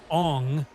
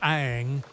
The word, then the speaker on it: Aang: The film's mispronunciation of character names, Ong instead of Aang, only added salt to the wound for fans.